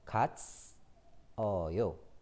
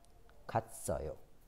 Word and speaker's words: 갔어요: The ending sound, s sound, goes to the next sound, next letter.